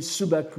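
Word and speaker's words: 寸白: J'attire simplement votre attention que vous voyez sur le fait ce qu'on dit subaku, n'est-ce pas, les parasites intestinaux, et qui s'écrit sumpaku, semble répondre au sumpo du paragraphe précédent.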